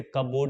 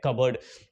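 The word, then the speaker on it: cupboard: इसे कपबोर्ड नहीं कहेंगे। इसे कहते हैं कबर्ड।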